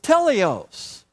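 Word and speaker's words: τέλειος: And in the Greek, that word for perfect is teleos. Teleos. Let's say that together. Teleos. It sounds like the word telescope.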